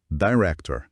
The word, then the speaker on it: director: Outra que mantém estrutura, director. Só que aqui a pronúncia já traz uns desafios um pouco mais claros para nós brasileiros. Vamos ouvir devagar, prestando atenção nos sons do R e no T.